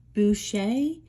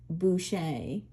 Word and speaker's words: Boucher: It's Boucher. It's spelled B-O-U-C-H-E-R, but it is pronounced Boucher.